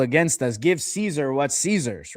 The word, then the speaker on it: Caesar: on paper is with Caesar. And when I say Caesar, I'm saying it phonetically. I'm not saying it ce. I'm saying it s e i ze r.